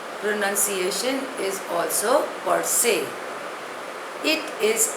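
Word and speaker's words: per se: newly acquired wealth रेकलेट the next word is परसे spelling is पी ई आर एस ई pronunciation is also परसे इट इज a Latin word it means by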